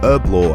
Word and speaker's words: Herblore: 99 herb law or herb law as it's pronounced in America is a members skill